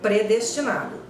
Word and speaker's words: predestinado: Eu costumo escutar predestinado. Ótimo, perfeito, átono, não é pré.